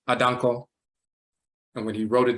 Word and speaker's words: Adanko: the same thing with adango the name is actually adanco and when he wrote